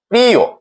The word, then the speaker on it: প্রিয়: যদি শব্দের শেষে অন্তস্থ অ থাকে এবং তার পূর্ব ধ্বনিতে ই কার থাকে তাহলে অন্তস্থ অ এর সাথে যে অ ধ্বনিটি ছিল সেটি ও এর মত উচ্চারণ হয়। প্রিয় প্রিয় অকারটি ওকারে উচ্চারিত হয়েছে।